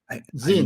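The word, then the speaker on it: Sinn: not overly expensive um Zing never heard s SI NN zing you gotta check them out they make a fantastic means zens z s i the S is pronounced with Z Zin and translated to English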